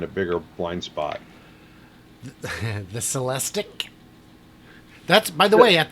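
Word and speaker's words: Celestiq: I asked the guy I asked the salesman how do you say it sell a stick he's like lyric and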